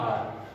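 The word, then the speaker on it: hour: और लास्ट है एच ओ यू आर। अब इसको कुछ लोग आवर पढ़ते हैं, कुछ लोग हावर पढ़ते हैं, बट इसका सही प्रोनाउंसिएशन क्या है? आर।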